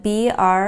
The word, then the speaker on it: brave: look at is spelled B-R-A-V-E. And again, we're going to have a long A because of the silent E. That means that this word is pronounced bra-a-v, brave.